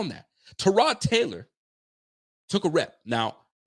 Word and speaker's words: Tyrod: I can't even call him Tyrod anymore because now pronunciations of these names are coming out. And Tyrod is really Trod.